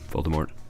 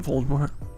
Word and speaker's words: Voldemort: Voldemort. God damn it, Voldemort. Heard you don't pronounce the T.